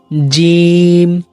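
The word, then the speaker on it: ج: এই হরফটি উচ্চারণ করতে অনেকেই ভুল করে থাকে, যেমন বলি জিম জিম। এই উচ্চারণটা ভুল, আপনি উচ্চারণ করতে হবে একটু কঠিন ভাবে, শক্ত হবে, জিম জিম।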